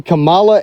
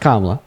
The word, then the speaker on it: Kamala: What is your following behind the Camala and Trump administration or behind the Camala and Joe Biden administration? Her name Kamala. Whatever it is. No, it's pronounced Kamla.